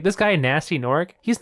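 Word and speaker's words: Gnasty Gnorc: But Nasty Nork, ooh, it's got a stink to it. I love that it's spelled with a G. Yeah, both Nasty and Nork are spelled with G's. Silent Oh my G's.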